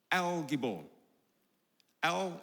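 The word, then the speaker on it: אל גיבור: called Mighty God or as it's pronounced in the original Hebrew l gibo l l meaning God and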